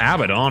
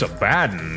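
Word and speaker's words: Abaddon: And I got yelled at enough by everybody that evidently it's not Abdon, it's Abaden.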